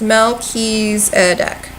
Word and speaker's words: Melchizedek: it yeah okay so it is pronounced Melchizedek Melchizedek monkeys a duck that makes sense Mokey's a duck I'm not gonna remember